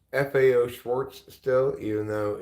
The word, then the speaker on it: Schwarz: remember it as such if it's still pronounced Schwarz but the t is not there and that to me